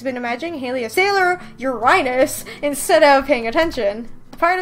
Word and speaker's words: Uranus: I mean, isn't that how you pronounce it? You're supposed to say Uranus. I mean, that just sounds like urine, though.